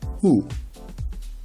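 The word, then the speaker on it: הוא: The aleph is silent. Hu.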